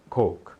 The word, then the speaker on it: Coke: aí por Coca coca-cola não diga coke diga coke coke Ok nova Y não diga New York